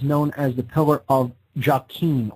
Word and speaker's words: Jachin: This pillar is known as the pillar of Jachin, or sometimes pronounced Yakin.